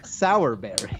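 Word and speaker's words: Sowerberry: What's funny, I was actually hoping you were going to tell me to spell it because it's S-O-W-E-R Berry. Sour Berry.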